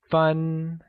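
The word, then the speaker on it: 分: vocabulary so let's start minutes translates to fun and is pronounced with a high level tone here's a quick grammar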